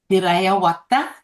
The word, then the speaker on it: Dirrayawadha: Dirrayawadha. Dirrayawadha. You roll the double R.